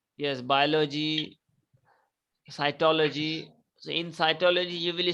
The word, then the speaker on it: cytology: is it called cytology yes cytology like biology yes biology cytology so in cytology you